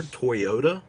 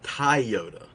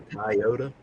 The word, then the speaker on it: Toyota: He pronounces like the car Toyota is a Toyota.